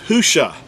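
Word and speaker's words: הושע: The actual word is Husha. It's spelled, ha with the letter he or ha, uah or u, and then the shin and the ayin. It's spelled with 4 letters.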